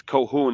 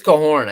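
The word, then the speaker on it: Coehoorn: up i'm sorry his cohoon is it cohorn i think it's cohorn i think i noticed there was an r in there i think i was saying it wrong the other day okay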